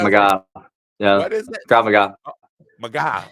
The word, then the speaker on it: Krav Maga: Krav Maga. Maga. Oh, it's not MAGA, but it's spelled MAGA.